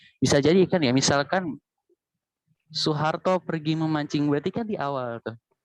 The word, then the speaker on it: Soeharto: mengeja gitu mengeja kalimat misalnya Soeharto dibacanya Soeharto begitu kalau tata bahasa